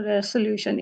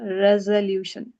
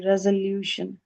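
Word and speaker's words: resolution: ये बहुत सारे लोग इसको पढ़ते हैं रेसोल्यूशन, इट्स नॉट अ रेसोल्यूशन, इट्स अ रेजोल्यूशन। ज साउंड है रेजोल्यूशन।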